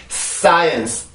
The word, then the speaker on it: science: science, science, science, science, science, science. 자, 그러면 소리를 들어보면 요 두 개는 지금 같은 발음이죠.